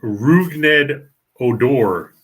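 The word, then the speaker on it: Rougned Odor: none of that happened oh okay so it's rugned odor correct correct i had to look it up to get the pronunciation i just called that guy that barely hits 200.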